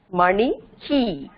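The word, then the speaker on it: मणिः: அதனால இந்த விசர்க்கத்தை என்ன சொல்லணும், இஹ் பிளஸ் இ, ஹீன்னு சொல்லணும். மணி ஹீ, இஹ் plus E ஹீ இல்லையா, அதனால ப்ரொனவுன்ஸ் பண்ணும்போது மணி ஹீ அப்படின்னு சொல்லணும்.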